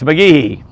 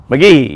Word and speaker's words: McGehee: which was Clay she has clay clay since McGee McGee you got to kind of you don't put a Big E on the key but you got to say McGee and uh so I got over there yesterday